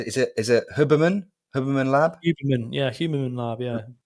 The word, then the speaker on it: Huberman: Is it Huberman?